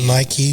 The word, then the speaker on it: Nike: The song is called Nike. Or Nike, for some people that pronounce it that way.